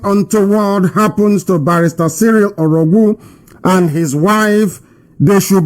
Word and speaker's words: Orogwu: His name is Barrister Cyril Orogwu. Cyril Orogwu. Orogwu is spelled O-R-O-G-W-U.